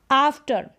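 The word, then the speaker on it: after: अब इसको आफ्टर नहीं बोल सकते या आफ्टर नहीं बोल सकते, जैसे यहाँ पर मैंने बोला कि अधिकतर स्पेलिंग में आपको ए को अ पढ़ना पड़ता है और यहाँ पर ए को आ प्रोनाउंस कर रहे हैं, तो ध्यान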